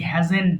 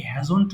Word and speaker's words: hasn't: এটা অনেকে হ্যাভন্ট বলে, হ্যাভন্ট না কিন্তু, remember I হ্যাভেন্ট done, he হ্যাজেন্ট ডান, এটাকে ভুল করে অনেকে হ্যাজন্ট বলে, বাট এটা কিন্তু হ্যাজেন্ট, simply she হ্যাজেন্ট done.